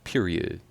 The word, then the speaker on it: .(…): and tones Kesha in the ambi ambient first half of freedom which opens up her sixth studio album pronounced period I was right but as the song evolves